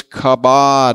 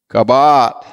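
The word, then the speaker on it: kabowd: glory in the Hebrew is kabad I'll spell it for you k a b o w d kabat and it means really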